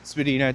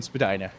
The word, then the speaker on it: Spadina: Uptown Spedina, downtown Spadina and nothing.